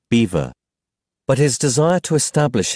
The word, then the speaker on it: Belvoir: Rutland invited him to Belvoir Castle which clous told him gentleman pronounce Beaver but his desire to